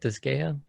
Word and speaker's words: Disgaea: And I'm pretty interested, like after seeing the little cartoony animations of the Disgaea 6. Mm-hmm. Is that how you say it? Disgaea?